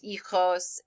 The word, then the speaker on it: hijo: El hijo is son, la hija is daughter, los hijos is children. Our children, excuse me, los hijos. So remember also in Spanish, the H is silent if it is the beginning of the word.